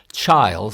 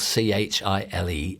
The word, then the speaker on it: Chile: Child, C H I L E, as in short for child, but incorrectly pronounced Chile, by Mr.